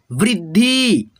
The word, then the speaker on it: वृद्धि: जैसे यहाँ पे देखो व पे है री की मात्रा तो पढ़ेंगे व्री, आधा द है और ध में छोटी ई की मात्रा है तो द आधा है ना तो इसमें ध में मिला करके पढ़िएगा वृद्धि, वृद्धि, ठीक है।